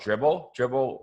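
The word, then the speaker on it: Dribbble: No, these pictures I get them from this site called Dribble, like dribbling a basketball, but spelled with 3 B's.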